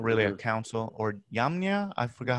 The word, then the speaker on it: Jamnia: Or Yamnia? I forgot how it's said. Yeah, we pronounce it Jamnia.